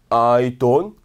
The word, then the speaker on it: don't: 근데 여러분, 외국 애들은 이 don't 말할 때 t 발음을 거의 하지 않아요. 그래서 그냥 don이라고 말씀하시면 돼요. 제가 문장 하나만 만들어 볼까요? 나는 신경 쓰지 않아 라고 말하고 싶으면 I don't care.